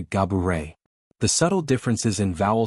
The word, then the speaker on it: Gabourey: While she has grown accustomed to hearing gabet, she clarified that the true pronunciation is closer to Gaburet.